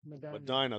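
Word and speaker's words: Medina: M by the way Madina that's how they say it down here they they like that they like that vowel all by itself to say its name so well that's a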